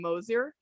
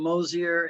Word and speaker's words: Mosier: chad i'm also joined uh by dr moser uh oh i might have said your name wrong all over again already okay all right